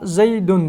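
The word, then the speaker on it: زَيْدٌ: nunun yazılmasına ihtiyaç duyulmamıştır mesela zeydun diyoruz zeydun kelimesini telaffuz ettiğimizde söylediğimizde orada bir nun Çıkıyor ancak yazılışta Zeyd kelimesini sonunda bir nun yoktur vul elifi ve lami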